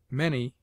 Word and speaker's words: many: Many is pronounced as if it were written manny.